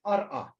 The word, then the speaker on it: arqa: But in Aramaic, for example, in Mandaic, the scribes write arqa, but they pronounce it ar'a.